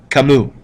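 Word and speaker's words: Camus: Jean PA sartu and Albert or Albert Alber kamu all right that's how you pronounce those uh look them up in the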